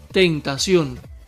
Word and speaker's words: tentación: La primera, tentación. ¿Te percatas? Sion es la sílaba tónica y lleva tilde en la O, pues termina en N.